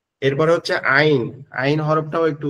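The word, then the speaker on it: عين: আছে এটাকে বলে শুরু এই মধ্যখান থেকে উচ্চারণ হবে আইন।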